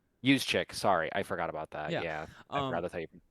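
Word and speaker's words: Juszczyk: Judik, I believe. What? Use check. Use chick.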